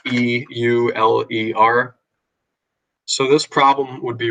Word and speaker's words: Euler: e is from a mathematician named Euler or Euler some people call it spelled e UL e R so this problem would